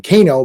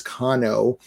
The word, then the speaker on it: Kano: cono is also gone which I would have pronounced his name Kano but it is cono he's gone um but